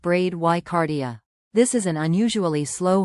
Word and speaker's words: bradycardia: Bradycardia, pronounced bradycardia.